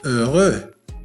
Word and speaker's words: heureux: heureux. إذا لاحظتم في هذه الكلمة حرف H لم ينطق لأنه من بين الحروف الصامتة، أي الحروف التي لا تنطق في اللغة الفرنسية، أو إذا نطقناها فننطقها